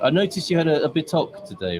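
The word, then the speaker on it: bitoque: I noticed you had a bitoc today, right? You had a Sorry? bitoc, which is bitoc. Bitok. Yes, that was my which is pronunciation.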